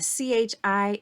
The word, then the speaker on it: chi: squared and so that Chi is pronounced Chi like a k like kite so Chi Squared Distribution